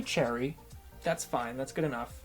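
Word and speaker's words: Choerry: fine that's good enough you can also say cherry with like a little bit of a what sound in there because that's you know I think just a little bit closer to the authentic pronunciation the reason why if you listen to someone pronouncing her name in Korean and you maybe can't hear the W is because it's really soft if you say cho area though it's not a big deal but it is wrong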